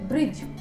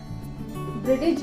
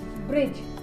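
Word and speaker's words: bridge: ब्रिज, ब्रिटिज नहीं, ब्रिज, तो यहाँ पे हमारा डी जो है वो साइलेंट हो जाएगा। और अगर एग्जाम्पल देखें हम, तो लेजर, हम लेडजर नहीं पढ़ते, हम पढ़ते हैं इसको लेजर। तो आपको ये टिप्स जो है वो याद रखनी है कि साइलेंट डी जो है, डी जो लेटर है वो हमारा साइलेंट जब होगा, जब वो जी से पहले आएगा।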